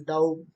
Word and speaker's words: doubt: know that is doubt you say that it is doubt doubt be silent here and how it